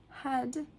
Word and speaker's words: head: But head h e a d. But it sounds like e.